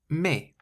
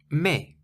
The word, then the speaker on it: mais: Mais. Mais. It means but. Mais. Now, the word mais is spelt M-A-I-S, but you pronounce it as though there isn't an S on the end at all.